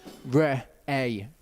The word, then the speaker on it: Re'eh: You've got an alif that takes on the sound of the vowel which is an a sound and then you've got a hey at the end which is pretty much a silent letter in this. So it's re a is how you say that.